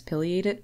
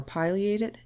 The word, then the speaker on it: pileated: get upset with you regardless of which way you prefer to pronounce pileated or pileated it will not make